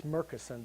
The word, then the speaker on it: Murchison: uh the murchison's Mr Merkerson the Elder Murchison died in 67. his son Clint markson most people and it's merkinson they pronounce it with a K not a CH of course became famous